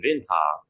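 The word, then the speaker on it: Winter: Jadi di sini bacanya seperti vinta ya. Are are gitu ya are. Jadi dibacanya vinta ya vinta.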